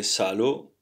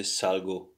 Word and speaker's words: salgo: You don't say salo, but you say salgo.